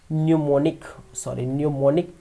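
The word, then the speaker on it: mnemonic: न्यूमोनिक में जो spelling है वो क्या है? एम पहले है, फिर NOMONIC, ठीक है, जिसे आप सीडोपोडिया लिखते हैं, ठीक है। इस प्रकार से कुछ चीज़ें लिखते हैं जो साइलेंट हो जाते हैं, जैसे वाक लिखते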